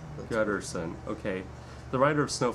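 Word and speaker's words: Guterson: Gutterson. Gutterson.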